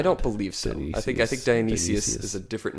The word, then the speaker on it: Dionysius: And I'm always confused by Dionysus, pseudo-Dionysus, but that's Dionysius, not Dionysus. Dionysus. He's the Greek god, isn't he? Dionysus is the Greek god. Dionysius. You're missing a syllable there.